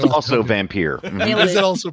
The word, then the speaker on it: Vampyr: That's pronounced also Vampire.